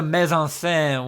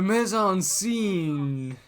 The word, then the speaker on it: mise en scène: Clooney was playing into that, and really the mise en scène was Kimset with the rest of the performance. The mise en scene.